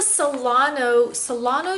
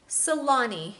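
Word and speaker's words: Saloni: This is a Solano dress. Solani, I'm not really sure what it's called. Let me look it up real quick. Let's see here. I'll tell you. Solani. It is spelled S-A-L-O-N-I, and it's called the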